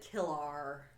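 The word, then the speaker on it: Kilar: It says Kristen Killer. But they pronounce it Killar.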